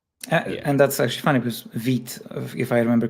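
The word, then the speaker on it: Vite: And that's actually funny because vit if I remember correctly it means fast in in French I think. Yeah. Yeah. It's it's not pronounced vit.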